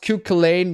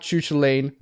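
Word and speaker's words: Cú Chulainn: It's pronounced Q-Kalane, not Choo-Choo-Lane.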